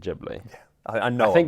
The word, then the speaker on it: Ghibli: many things wrong well because the eyes you're meant to pronounce with the e sound as far as i